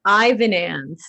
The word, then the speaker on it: Ivanans: to pronounce it wrong it's ivan and like there you go like